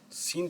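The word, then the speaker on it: scene: Example सीन। अब यह word सीन पढ़ेंगे। यहां पे हम सी को साइलेंट रखेंगे। सिर्फ एस की आवाज को प्रोनाउंस करेंगे।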